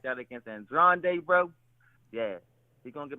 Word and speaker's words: Andrade: His name is Andrade.